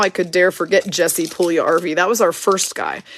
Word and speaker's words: Puljujarvi: Oh yeah, don't forget Jesse Puljujarvi, whose name we couldn't say for the longest time until someone finally said Puljujarvi, like your recreational vehicle.